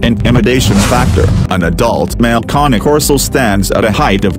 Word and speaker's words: Cane Corso: struggling to choose between a Cane Corso, phonetically pronounced as KAH-NAY KOR-SO, and a Bullmastiff, also